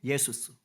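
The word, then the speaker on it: Ἰησοῦς: 예슈아 그럽니다 뭐라고요 예슈아 이걸 헬라어 식으로 음역 헬라어 식으로 발음한게 예수스 그래서 예수가 되는 거예요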